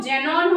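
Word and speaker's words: Xenon: हालांकि जीरो की स्पेलिंग जो है जेड से होती है, यहाँ पे आपको थोड़ा सा ध्यान रखना है, इसका प्रोनाउंसिएशन जो होता है वो ज़ेनॉन होता है, लेकिन इसका जो सिंबल है वो क्या है हमारा एक्स ही है।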